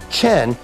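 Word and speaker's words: חן: to our heavenly father grace in the book in hebrew is the word that we pronounce chen and it simply means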